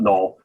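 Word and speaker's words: Knull: And K is silent. Yeah, K is silent. Null.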